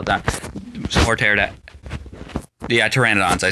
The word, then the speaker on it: Pteranodon: Yeah, Pteranodons.